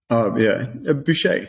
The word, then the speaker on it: Buchheit: And some of the research put forward by, I don't know how to pronounce his surname. Is it Buchheit or? Boucher.